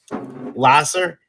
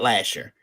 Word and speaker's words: Lasser: this show font secondly i will contend that um lasser is not lasher i looked at it as lah scr b a lot of people say lasher it's lasso but the